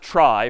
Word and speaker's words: trie: be a gotcha a try is sort of a fancier tree and it's short for retrieval but pronounced try for weird historical reasons but a try is a tree each